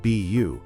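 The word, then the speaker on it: 卜: day in the Chinese character for divination, pronounced beu, to determine if the spiritual answer was auspicious or disastrous.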